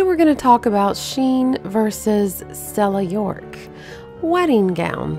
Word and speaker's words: Shein: Shein says that the pronunciation of their company name is Shein. Shein, like she is in style.